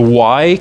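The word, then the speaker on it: Wye: This is the Y connection. They spell it weird, W-Y-E, but it really, you can think of it as a Y, like the capital Y, but inverted.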